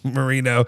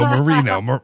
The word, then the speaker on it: Moreno: Yes, Marino. Not Dan Marino. Marino. Like more like Moreno is how it's spelled.